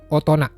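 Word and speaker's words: 大人: Ini jangan sampai salah dengan membacanya dajin. Bukan daijin ya, tapi otona.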